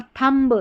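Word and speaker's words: thumb: और यहां पर थंब थंब थंब गलत है। थंब पढ़ेंगे। थंब म पर ही चुप हो जाएंगे। बी का उच्चारण नहीं होगा।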